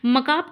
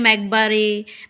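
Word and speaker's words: macabre: मकाब का मतलब होता है इसको देखिए बहुत लोग पढ़ते हैं मैकबरे मैकबार। ठीक है? लेकिन ये गलत है।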